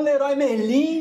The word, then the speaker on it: Leroy Merlin: ela, você fala, Prof, te vi lá no Leroy Merlin, menina, você não sabe. Da quebradeira, gente, da quebradeira. Então como é que pronuncia?